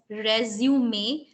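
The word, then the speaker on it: résumé: pronunciation in French as resume. So it is not resume, it's resume. So the E becomes a in pronunciation, right?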